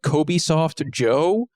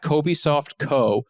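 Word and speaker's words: Cobysoft: to uh Twitter artist by the name of Kobe soft Joe uh Kobe soft Joe no let me just make sure I got the ad right yeah it's a Kobe it's at Kobe softco spell it for us uh c-o-b-y-s-o-f-t-co but he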